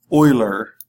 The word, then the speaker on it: Euler: It's talking about verifying Euler is really the better pronunciation.